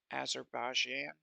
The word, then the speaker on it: Azerbaijan: the other country is forgive me on the pronunciation here it's Azerbaijan azerbashia as a year yeah I know I'm